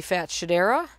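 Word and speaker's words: Fatshedera: is where I planted the fat shadera which is my preferred pronunciation of that because it's more fun to say and it is doing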